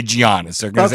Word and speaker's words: Giannis: His name is Giannis, not Giannis. I know it's spelled like that, but the G followed by the E sound in Greek is the G is silent, and it's Giannis.